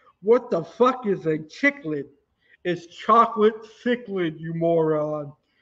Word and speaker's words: cichlid: video but it appears you ate the chocolate chicklet just kidding just kidding just kidding what the is a chiclet is chocolate cichlid you i hate when people